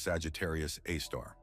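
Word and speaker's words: Sagittarius A*: The Milky Way, our home galaxy, is home to an immense black hole that has earned the name Sagittarius A, pronounced Sagittarius Aar.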